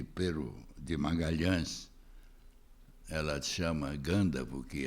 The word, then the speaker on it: Gândavo: denominação mais recente mas a minha geração ea geração dos meus mexe dizia gândavo eu acho que essa é deve ser a pronúncia é o nome gândavo criado à semelhança de batavo já que a família